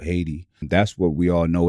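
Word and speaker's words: Haïti: a little bit different aiti you don't pronounce the h so i want to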